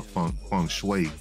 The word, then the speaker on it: feng shui: I think I might need a little feng shui.